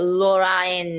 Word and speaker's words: Lorraine: It is, but in this word, it's actually LOR is, well, LO is the one syllable, RAI is one syllable, and NE is the last syllable. Oh, Lorraine, ne.